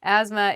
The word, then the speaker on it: asthma: Asthma is spelled very weirdly. There's a TH in there, but we do not say the TH. It sounds like ASMA, asthma.